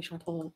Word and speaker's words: Chantal: Yeah, some people call me Chantal.